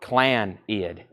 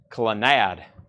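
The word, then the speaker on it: Clannad: in shock M says that's pronounced Clan ID clid you sure about that clad Clan ID all right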